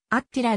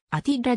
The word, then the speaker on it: アティラ: が安比らの実際の発音はアッチラではなくアティラであるなお生のヨージェフ